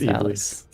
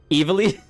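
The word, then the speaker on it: Ivalice: It's Ivalis. Evilly? Thank you. That's the first time I think you've immediately corrected my pronunciation.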